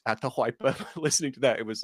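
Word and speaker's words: Atahualpa: And I know this is because it's a Ketwa word, but it's atypa, not atalpa, but it's atypa.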